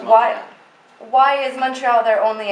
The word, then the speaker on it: Montreal: It's pronounced Montreal.